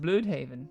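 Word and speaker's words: Blüdhaven: Sidestep here, the U in Bloodhaven has these two dots, it's called an umlaut. That changes the U sound to an U. So it should be pronounced Bloodhaven, but come on.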